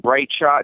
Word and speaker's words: Briteshot: So like Bright Shot, not no GH, just a T.